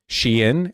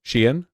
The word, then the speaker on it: Shein: Shein, it's 2 syllables. Shein.